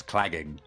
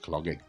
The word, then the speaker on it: clagging: Yes, clagging, not clogging.